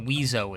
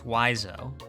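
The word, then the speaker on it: Wiseau: It's not Weiso, it's Wiso.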